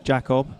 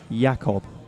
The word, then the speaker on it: Jakob: what is your name Jakob right oh yeah High German spelt with a J but it's pronounced with a why yeah Ryan gentlemen